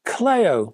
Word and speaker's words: Kleio: Finally, for this week's news, we have a UK company called, and I'm going to pronounce them, Kleio, because I think that name is ancient Greek in its origin.